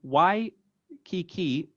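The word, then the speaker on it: Waikīkī: about this so if your cases aren't watching y key key which is written on the screen now is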